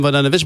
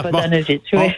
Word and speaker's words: Vodanovic: Mme Vodanovic, Mme Vodanovic, bonjour. Bonjour, M. Nantel. Bonjour, est-ce que j'ai bien prononcé votre nom? Oui, la deuxième fois, c'était parfait. Oui, c'est ça. Vodanovic. Vodanovic.